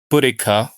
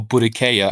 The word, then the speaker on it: Boudica: Boudica or Boudicca, I think there are different ways to actually pronounce her name, was a figure from